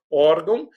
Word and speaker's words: órgão: Um acento agudo, aqui na letrinha O, né, elas são paroxítonas, que é a sílaba, a penúltima.